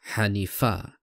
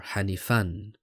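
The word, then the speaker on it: حنيفا: does hanif hanifa mean the noun hanifa is in the singular accusative case causing its pronunciation as hanifa or hanifan khanifa in puzzle form but as an indefinite noun is simply hanif and through the dictionary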